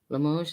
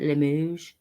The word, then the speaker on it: Limoges: Limoges is how you say it? Limoges.